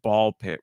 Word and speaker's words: Ball x Pit: Now, you do not pronounce the X in ball X pit. It's just ball pit with the X in the middle.